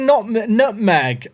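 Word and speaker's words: Nutmeg!: But yeah, if people haven't seen Nutmeg, it's spelled N-U-T-Met.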